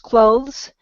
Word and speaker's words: clothes: when we say it it's kind of a softer th sound so it's just clothes I know that kind